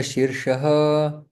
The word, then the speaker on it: शीर्ष: देने की है कि जो शीर्ष शब्द है उसका उच्चारण हमें ठीक करना चाहिए पहला श है और दूसरा श है तो श श के लिए हम लोग आगे की तरफ जीव रखते हैं और श जब दूसरा श उच्चारण हो रहा है तो जीवा पीछे चले जाते मुर्धन की और यहां पर संधि